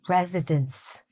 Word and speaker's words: residents: It should be "many residents". Okay? With a "ts", resident, if it's one.